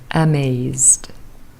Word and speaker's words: amazed: is pronounced with dressed amazed Edie is pronounced de amazed well done everybody